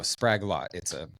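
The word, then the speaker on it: Sprague-Lott: Sprague and then dash Lott. Oh, Spraglot.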